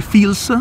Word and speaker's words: Phil's: posto si chiama fials si scrive pil ma si legge fils come il film che